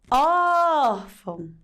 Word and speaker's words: órfão: O som do acento agudo, a função dele não é abrir o som? Aumentar? Então o som dele se destaca mais do que o til, né? A sílaba tônica na palavra "órfão" é "or". Ór-fão.